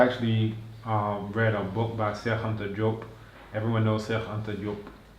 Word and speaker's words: Cheikh Anta Diop: We were able to just chit chat in Wolof for a little while, but that's the actual pronunciation. Cheikh Anta Diop.